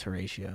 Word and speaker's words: Horatio: pronounced me wrong there was it Horatio it's or is it Horacio Horacio Horacio I want whenever I heard it doing Shakespeare it was always Horatio okay good I'm glad